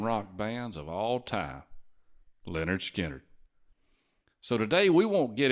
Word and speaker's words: Lynyrd Skynyrd: And that album, Pronounced Leonard Skard.